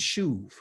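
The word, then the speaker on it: שוב: Okay, shuv has the idea, and kind of right up here is SHU, and it's usually a B, but I'm gonna put a V right here so we can pronunciate it.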